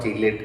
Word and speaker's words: chelate: कीलेट ligand, इसको बच्चों चीलेट भी बोला जाता है, चीलेट या कीलेट भी बोल सकते हैं, है ना।